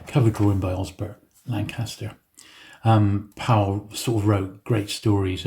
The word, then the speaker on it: Powell: This is Anthony Powell, or Paul, depending on how you pronounce it.